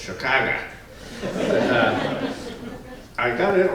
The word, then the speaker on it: Chicago: a red eye from Chicago. That's how you pronounce it, by the way. With an AH on the end of it. Yes, it's not Chicago, it's Chicago.